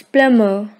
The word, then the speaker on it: plumber: It's plumber. B is silent here.